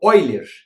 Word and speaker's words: Euler: homenagem ao matemático difícil chamado Oi ler e se escreve Euler pensando com e por